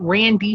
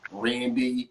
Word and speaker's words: Ran'D: my response is um you pronounce the name either rand randy some people even call me rain does shine but uh